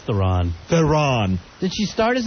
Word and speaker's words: Theron: My fantasy chick is Charlize Theron.